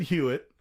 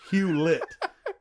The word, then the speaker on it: Hewlett: a little more normal David Hewitt I didn't even pronounce it right it's Hewlett jeez they're easy I am